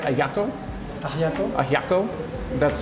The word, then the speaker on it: ajiaco: Ajiaco.